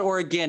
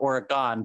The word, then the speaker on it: Oregon: like even or again we'll call it Oregon even though it's very clearly spelled Oregon but but adding an F